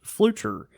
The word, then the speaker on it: Fluture: is my last name is pronounced fluture uh think of it like future but with an extra L it happens all the